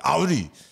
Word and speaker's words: Audi: Like for one, they hate when you call it Audi. It's got to be Audi. They do.